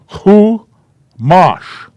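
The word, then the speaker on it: chumash: The kibbutz is used under the chet, and it's pronounced ku. It's pronounced ku. And then the mem with an ah sound. And the shin at the end. So we have 2 syllables. There's 1. Here is the other syllable.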